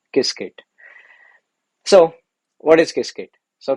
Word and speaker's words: Qiskit: one keyword called as kiskit now qiskit this is uh pronounced as kisket so what is cascade